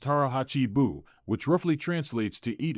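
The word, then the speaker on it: 腹八分: The third distinctive practice of Japanese elders involves a powerful approach to eating known as harachi biu, pronounced harah hachi buu, which roughly translates to eat until you are 80% full.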